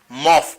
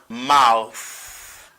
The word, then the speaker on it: mouth: Mais moun yo mal prononcé, moa yo dit mof. Par exemple, si vous allez jouer basket avec monsieur yo dit mais point na mofou. OK? Est-ce que c'est mof yo dit? Non. The word is pronounced as mouth.